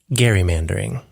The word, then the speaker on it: gerrymandering: You can also pronounce it garrymandering.